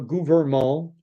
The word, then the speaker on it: gouvernement: He says gouvernement. He doesn't, a lot of Anglophones, we say gouvernement. Quand vous travaillez pour le gouvernement, and it's gouvernement. There's a government, gouvernement, not government.